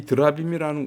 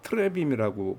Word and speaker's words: 드라빔: 이 드라빔이라는 우상은 트레빔이라고 발음하기도 하는데 주로 점치는 데 썼던 그런 우상이라고 그래요.